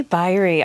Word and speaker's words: Biery: our special guest is Debbie by rhe Debbie buyer II I've been saying berry this whole time I'm glad you like clarified that I have no idea